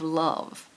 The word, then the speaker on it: love: of of luz of love it sounds like love looks like stove so must have an ove oh must be love it looks like stove